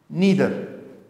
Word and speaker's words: neither: पर नन नहीं बल्कि नीदर यूज़ करेंगे, ठीक है। इसको नीदर भी प्रोनाउंस करते हैं, नाइदर भी प्रोनाउंस करते हैं, मगर मुझे खुद नीदर प्रोनाउंस करना जो है वो ज़्यादा सूटेबल लगता है।